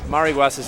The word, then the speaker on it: Mariguas: Okay, so we might have been saying Mariguas' name wrong.